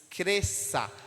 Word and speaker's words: cresça: ç não é verdade esse cresça só tem um som o som de S cresça Então são duas